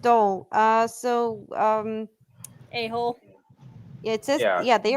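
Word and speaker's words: dhole: Uh it's pronounced dole.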